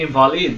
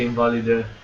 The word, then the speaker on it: invalid: So it's pronounced the invalid, not the invalid.